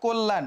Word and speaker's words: কল্যাণ: যে এখানে ও টা কেন হইলো এরপরে দেখো কল্যাণ সেম জিনিস ক তার সঙ্গে অ যুক্ত ছিল এবং তারপরে একটা জ ফলা যুক্ত ছিল থাকার কারণে ও টা কিসের মত হয়ে যাবে ওর মত হয়ে যাবে তাহলে কল্যাণে কি হবে কল্যাণ এই জফলা থাকলে যে চেঞ্জ